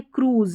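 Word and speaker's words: cruise: Fruit fruit, juice, suit और यह है क्रूज। यहां पर उ पढ़ रहे हैं।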